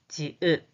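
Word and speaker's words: 지읒: The pronunciation is ja, ja, ja. The name is Ji-ut, Ji-ut, Ji-ut, Ji-ut, Ji-ut.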